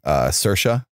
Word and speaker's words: Saoirse: Saoirse. Saoirse. I was just about to bring that up. Yeah, it's spelled so weird.